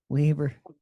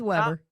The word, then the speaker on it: Weber: in two days to Weber State Weaver not to be confused with Weber not Weber it's it's spelled Weber but who would have thought Weber Justin Weber